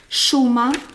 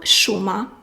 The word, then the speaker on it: šuma: šuma, forest or wood, šuma, I will write it. So you see, žena. And now just place your tongue down. Šuma. Šuma. Šuma is sh is like sh, and ž is sh but tongue up.